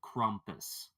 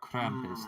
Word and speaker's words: Krampus: creatures known as a crompus or Krampus depending on how you want to pronounce it oh I've heard stories